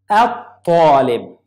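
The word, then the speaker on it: الطالب: I didn't pronounce lam. Talib. At-talib.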